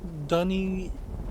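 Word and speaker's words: D'ni: Or deny. It's D apostrophe N-I, so it should probably be pronounced deny. But it also has been pronounced both ways throughout the game.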